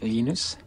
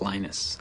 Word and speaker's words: Linus: Linux or Linus what's the exact your preferred pronunciation um when I speak Swedish it's lenus when I speak Finnish it's lenus when I speak English it's lonus and I really don't care how people pronounce